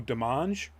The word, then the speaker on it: Demange: They've already named Jan, and it's Demange, so I'm assuming that it's something that's pronounced like French and that the E is silent, so Demange is the way I'm going with that, and apologies if I've screwed that up.